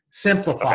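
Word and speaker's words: Simplifeye: And I'll spell it. It's S-I-M-P-L-I-F-E-Y-E, Simplify.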